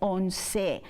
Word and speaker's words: once: And remember that in Spanish, every vowel is pronounced in the word. So for example, on number 11, we see at the end an E at the end of, you know, once. So we don't say ounce, we say once. So we pronounce every vowel that we see.